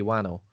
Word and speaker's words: Whannell: Whannell sounds like Cockney slang for flannel.